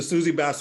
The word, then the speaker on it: Susie Bass: So let me make sure I'm pronouncing this right. Is it the Susie Bass Award? It's the Susie Bass Awards.